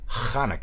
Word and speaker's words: Hanukkah: we're already well into Hanukkah, as I like to pronounce it. It helps clear the throat and at the same time pronounce a holiday in its original form, as I believe.